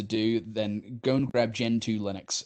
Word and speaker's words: Gentoo: then go and grab Gentoo Linux it's spelled like the penguin geant oo it's got an amazing